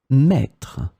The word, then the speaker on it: mettre: In this lesson, we will see together 3 words that will be written differently but pronounced the same way. Maître, mètre, mètre.